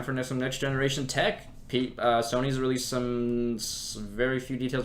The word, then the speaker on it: Sony: Why are you calling him Sunny? That's- It's Sony. Oh my god. Same thing. No. Different pronunciation.